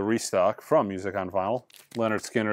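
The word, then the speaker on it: Lynyrd Skynyrd: believe is a restock from Music On Vinyl Leonard Skinner it's pronounced Leonard Skinner Japanese uh Sony title I showed you guys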